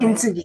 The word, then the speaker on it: Kintsugi: Kintsugi, did I say it right? Kintsugi, yes, Kintsugi.